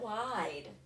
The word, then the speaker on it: wide: All right, let's take a look at wide. The vowel in wide, I, makes a long sound. So therefore my E is silent.